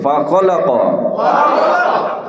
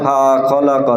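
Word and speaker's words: فَخَلَقَ: আমরা আগে বলেছি যে হরকতের উচ্চারণ কি করতে হয় দ্রুত বলতে হবে ফা খলাক ফা খলাক কেউ যদি বলে ফা খলাক তাহলে কি হবে খুবই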